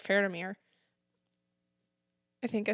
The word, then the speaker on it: Faramir: But I really like Faramir. I think I said his name wrong again. Yeah, no, I did. I said it right. You got to take away the N. There's no N. Faramir.